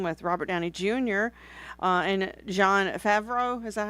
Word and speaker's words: Jon Favreau: And Jon Favreau." Is that how I say it? Yes, that's how you pronounce it.